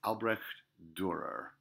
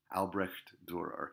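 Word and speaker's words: Albrecht Dürer: Bavaria a southern German state his name is Albrecht Durer Albrecht Durer if you wanted to anglicize it Albrecht is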